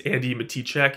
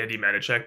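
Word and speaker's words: Andi Matichak: Greer playing Karen Andy I think it's Andy matiek if you're supposed to pronounce it but I say Andy manich but whatever Andy matiek as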